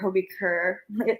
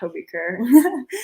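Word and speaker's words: HB Køge: I played for Hobie Kerr. It looks like HB Coach, but it's pronounced Hobie Kerr.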